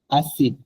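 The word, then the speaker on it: acide: যেমন হচ্ছে নিচে দেখেন আসিড, এখানে কিন্তু সিটা সিদেইয়া না, আই এর আগে সি আছে কিন্তু সিদেইয়া না, তারপর এটা ছয়ের মতো উচ্চারণ হবে আসিড।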